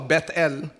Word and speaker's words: Bethel: na imbis manilan sa Bethel that's the right pronunciation po Bethel tuma tandaan niyo ho p lalayo ka sa